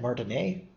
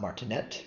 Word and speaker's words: martinet: was named Martin a and the reason I'm pronouncing it not martinet but Martin a is the person is he was a French